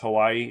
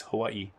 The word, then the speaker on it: Hawaii: Hawaii oh and by the way it's not pronounced Hawaii it's Hawaii the boat had technical issues okay so there